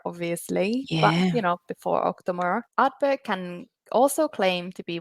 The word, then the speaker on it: Ardbeg: Sometimes I feel like I said Ardbeg, but it's Ardbeg, Ardbeg. But it sounds the same, Ardbeg.